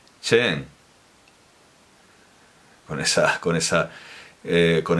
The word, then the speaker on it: Cheng: lengua oficial de francia pues no es françois eso no es falso singh es françois zinc es françois chin y concretamente chen con esas con esas